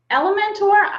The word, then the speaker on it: Elementor: you guys about element element or how do you say it Cassie it's a mentor in elementary um I always say it like like it's a dinosaur Elementor so she's gonna give